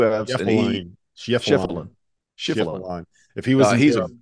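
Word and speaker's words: Schieffelin: I just say Shefflin, like the chef, and then like Jeremy Lin, Shefflin.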